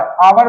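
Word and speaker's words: hour: octant पर N over अवर भी हमने एग्जांपल में तुम्हें लिखा है तो एन वाला सही है क्योंकि हा से शुरू हो रहा है लेकिन उच्चारण है अवर यानी की बड़े ऐसे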